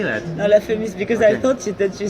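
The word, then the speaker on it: La Fémis: No, La Femis, because I thought that you said that the school was called Feminist.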